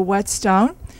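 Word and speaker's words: whetstone: and it's the the Wet Stone and I pronounce it as a Texan I that H is silent to me but it really does have a pronunciation but being from Texas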